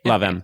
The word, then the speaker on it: Lavash: But, if I'm to say it right Lavash. You know, like two words. Two words.